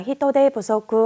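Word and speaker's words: 人手不足: 이걸 사음절로 읽으실 때 히토대, 원래는 부족을 후소크라고 읽지만 자, 인력 부족이라고 할 때는 히토대, 니고리가 땡땡 생깁니다. 히토대 부소크 하면은 인력 부족, 노동력 부족을 뜻하죠.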